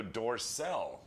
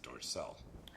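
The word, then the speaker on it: Dorcel: the end all right um European adult Studio dorsel that's how you pronounce it dorsel um has announced the domestic DVD release of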